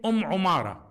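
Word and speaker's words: عمارة: The kunya, her kunya or nickname, Umara. بضم العين وتخفيف الميم, meaning with a dhamma on the ayn, o, and a fatha, no shadda on the mim.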